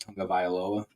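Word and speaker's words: Tagovailoa: never would have thought tua's last name would have been pronounced Tong of vioa so you never know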